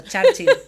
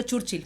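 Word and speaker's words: Churchill: Siempre voy a decir el apellido, me quedó a ver cómo se dice eso. Charchil. Yo habría dicho churchil, pero vamos como como buena canariona.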